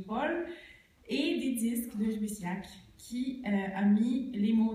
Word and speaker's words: Lluís Llach: J'ai même forgé ma bonne prononciation du catalan avec son nom, parce qu'il y a le double L, qui n'est pas tout à fait un Y espagnol, comme le Louis Slage.